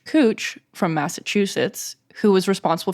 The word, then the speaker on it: Couch: here to find out it's pronounced cooch not couch for those of you who are just finding out welcome but I do have a little bit of a backstory for why it's cooch not couch according to